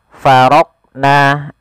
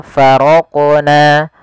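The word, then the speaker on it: فرقنا: Contoh faraqna, ini tidak memantulkan huruf qaf, ini salah. Yang kedua faraqna, ada menambahkan hamzah setelah huruf qaf itu menjadi faraqna. Harusnya langsung saja faraqna, faraqna, ya, mengalir dia huruf qafnya sesuai dengan makhrajnya.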